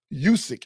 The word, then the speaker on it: Usyk: I don't know if you guys got a chance to see the fight the other day between Tyson Fury and Alexander Usyk.